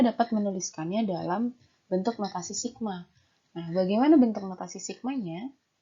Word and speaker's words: sigma: seperti berikut ini yaitu Sigma ya Jadi ini dia tadi bacanya Sigma Sigma Bentuknya itu seperti